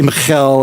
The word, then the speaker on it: Michal: Now, I'm going to pronounce this girl's name, I could say Michal or something, I'm going to say Michael.